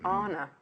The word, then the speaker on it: Anna: Actually, Anna. That's how she pronounces it, isn't it?